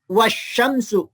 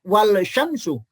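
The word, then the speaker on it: والشمس: atau hukum Al contohnya Ini kan dibaca asyamsu ya bukan alsamsu atau dibaca wasyamsu bukan Wal Syamsu Kenapa karena huruf syin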